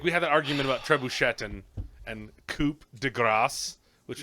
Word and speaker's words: trebuchet: I know that's why they said trebuchet that's not how you say it it is trebuchet it is no tette